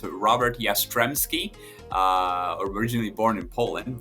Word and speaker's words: Jastrzebski: yeah it's uh not an easy name to pronounce it's Robert yastremski uh originally born in Poland but uh yeah